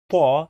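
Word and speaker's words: ط: So sa is a strong S, ba is a strong D, pa is a strong T, va is a strong TH in the word the, so it is va, and qa is a strong K.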